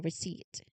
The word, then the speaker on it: receipt: You won't see a symbol for the silent K in the word know or silent P in receipt.